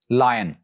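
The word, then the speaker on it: lion: जो फर्स्ट वाला है जिसका मतलब शेर है, it's pronounced as लायन, लायन यानी ये की आवाज भी आएगी लायन, और जो नीचे वाला वर्ड है वो सिंपली लाइन है, लाइन, लायन एंड लाइन।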